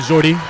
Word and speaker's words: Jordy: How do you pronounce that first name? They call him Jordy.